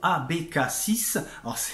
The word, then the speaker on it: ABK6: passer avec le groupe abécassis ans et ça s'écrit à becca avec le chiffre 6 mais c'est aussi l'abréviation